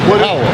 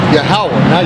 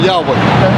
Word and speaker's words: Yahawah: It's what? Yahawah. Who? Yahawah, not Yahweh.